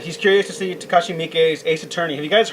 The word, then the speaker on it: Miike: from 13 assassin think thank you for pronouncing his name right because people just call Mike but he's actually doing